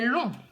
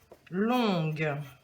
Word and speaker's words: long: allez dire par exemple le chemin est long donc il ya le g qu'on n'entend pas mais vous pouvez dire la route est longue et là vous l'entendez